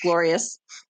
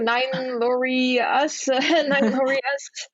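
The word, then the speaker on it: 9loriuS: glorious um which is stylized nine l-o-r-i-u-s but pronounced glorious i know it's like nine laurie us glorious but nine because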